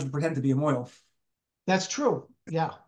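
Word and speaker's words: mohel: yeah all right a mo do I what is anybody here a mo we need a mo I don't know why it's pronounced Mo if it's moel in Hebrew it's never made any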